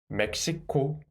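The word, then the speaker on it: 멕시코: Without the final consonant, it is me, and with the final consonant, it becomes mek, mek. And then second syllable block, 시, 코, mek, 시, 코, Mexico, Mexico.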